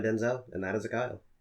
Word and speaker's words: Kyle: Yes. Khile. The Kyle. That's what that means. That's what that means? That's exactly what that means. So everyone's been saying it wrong all these years. No, they haven't been saying it wrong. They've been saying everybody else's name wrong. Mine is the Kyle. Kyle. I don't know what the fuck that means. Why did they ever fuck that up? I mean, it's not K.